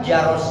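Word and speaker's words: جرس: Kalimat jaros itu dipatahkan jimnya dan dipatahkan rohnya. Jadi bacanya apa? Jaros.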